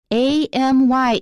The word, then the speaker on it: Amy: e-m-m-y is emmy amy is a me makes the ae really long and clear it sounds exaggerated because you're not used to it pay attention to native speakers that's how we really say it ae me amy amy emmy is a different name rachel also contains an